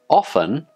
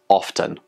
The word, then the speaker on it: often: English teacher Luke so how can we pronounce this word is it often or is it often are both correct is it okay to pronounce this word with the tough sound simply yeah it's totally fine this word has two acceptable pronunciations often and often both pronunciations are presented